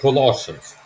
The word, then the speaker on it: Colossians: That's Colossians. yes, that's what I meant to say. That's the practice you pronounce it.